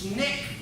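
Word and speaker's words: SNCC: Coordinating Committee 1960 Jarrell is that pronounced snick all right they pronounce that snake and there were a number of different organizations that popped up dr.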